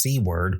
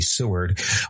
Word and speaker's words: Seward: Another Western New Yorker, William Seward or sometimes pronounced Seeword but more commonly Seward, would become a powerful US Senator and Secretary of State during the US Civil War and Reconstruction eras.